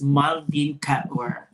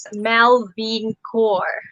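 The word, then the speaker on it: Malveen Kaur: so that our viewers knows who is miss maldin cat catware is it right uh the pronunciation of your name is martin a lot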